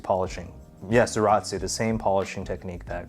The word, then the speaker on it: Zaratsu: Yes, Zaratsu, the same polishing technique that Grand Seiko uses. And now a quick thing I learned, Zaratsu actually derived from the German word Salaz, phonetically pronounced as Zaratz in German.